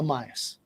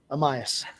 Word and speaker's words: Amayas: Uh Amias. Amas. Amaya with an S. Amias.